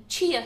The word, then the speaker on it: chia: Now, it has the chia seeds in it. I've pronounced that right because I was saying chai and then I got told it was chia.